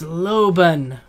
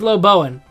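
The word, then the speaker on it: Loboan: It's Loban. I don't even know what Loban is doing, but Loban will be mine. Come here, Loban. Oh, it's Lobowen. I've been pronouncing it wrong this whole time.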